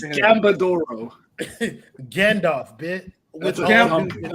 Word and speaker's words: Gambadoro: No, I think it's Gambadoro.